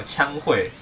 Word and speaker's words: 羌廆: 我那时候还特别去查读音，枪会，喝乌 A 四声会。